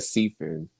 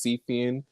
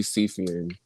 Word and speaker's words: Siefyan: that you said Seafair I mean you said Seafood but the the correct pronunciation is CPN but I prefer on but if you want to call me seafian you can do that okay whichever you prefer